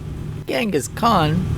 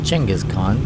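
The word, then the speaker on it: Genghis Khan: manenas and gangas Khan gangas Khan actually his name's pronounced chenas Khan but okay welcome to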